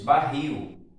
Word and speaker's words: barril: Barril, terminado aí em IL. Como é que é feito? Barris. Professor, então no caso barril é uma palavra oxítona? Sim, a sílaba tônica é a última sílaba.